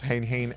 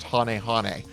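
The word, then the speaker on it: Hane-Hane: and giant trunade swallows hang hang at the common slot sorry i got distracted by remembering the thing is this thing is pronounced hanehane anyway kaze jin has a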